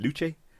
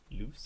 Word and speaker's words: Luce: Luce? Luce. What language are we talking? Loose. It's an American film. Probably loose, so.